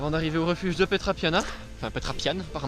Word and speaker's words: Petra Piana: pour 5,6 km en arrivée au refuge de pétra piana enfin la trappe yann par manca se prononce et donc ça devrait se faire en